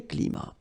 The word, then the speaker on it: climats: So you can see that even if we've got the plural form here, S, we don't pronounce the S, and then we don't pronounce the T either.